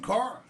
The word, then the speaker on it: Kahr: because it has a silent H. It's pronounced Kahr, but it's Kahr.